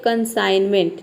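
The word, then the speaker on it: consignment: केवल ना पढ़ रहे इसको बोलते हैं कंसाइनमेंट ठीक है कंसान कंसाइनमेंट नहीं बोलेंगे बोल ही नहीं पाएंगे ठीक है इसको हम बोलते हैं कंसाइनमेंट ठीक है कंसाइनमेंट यहां पे केवल ना पढ़ते हैं तो ये क्या है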